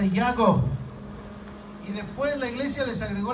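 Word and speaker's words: יעקב: a santiago bueno porque jacob en hebreo se pronuncia y hago después la iglesia les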